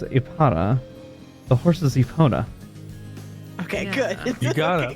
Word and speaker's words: Epona: I was like, Ipana.